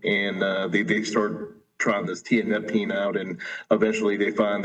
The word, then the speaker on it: tianeptine: Can you tell me how to pronounce it? Tianeptine. Yes, exactly. Tianeptine, yes.